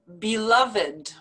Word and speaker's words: beloved: verbs and that's because these are not verbs these are actually adjectives so the pronunciation is a little bit different from the rule that we learned with the past tense verbs so listen to how i pronounce these beloved beloved blessed blessed naked naked rugged rugged crooked crooked three-legged three-legged